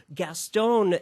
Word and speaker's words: Gueston: i hope i got your name right uh gastone gaston right gaston okay gaston i i i hate mispronouncing names so thank you um let's talk